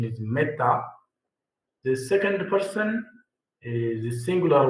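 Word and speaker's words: μεθα: The pronunciation is meta.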